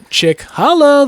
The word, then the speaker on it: Cicala: ChickHolla, that's how it's spelled. Because he doesn't trust anybody to pronounce his goofy ass Italian last name.